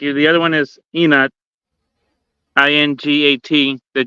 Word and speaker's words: ingat: don't say you don't say ingat. You say just inat because the Enoch. G is silent.